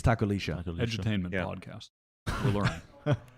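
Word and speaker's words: tacolilla: Apparently, it's like Lisha because it's like Argentinian Chilean pronunciation. SHC or something. I thought it was Takolia, and the casters were saying Takolisha, and apparently double L is a sh sound in like some places an in SHC South America or something like that.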